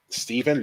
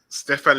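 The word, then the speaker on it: Stephan: to win number 12 stephen lichtsteiner anyone remember him or stefan bloody hell we got his name wrong well we're going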